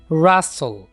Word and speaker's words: wrestle: खासकर जब W और R इकट्ठे आ जाएंगे तो वहां पर हम W को साइलेंट रखेंगे. wrestle, wrestle, rat, road and wreck.